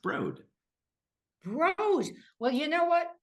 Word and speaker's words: Broad: It's the Broad family, spelled like Broad, but pronounced Broad.